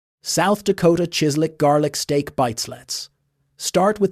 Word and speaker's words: chislic: South Dakota chislick garlic steak bites. Start with the easiest dinner on this entire list. Out in South Dakota, there's a dish called chislick. It's pronounced kislick, and it's simply cubes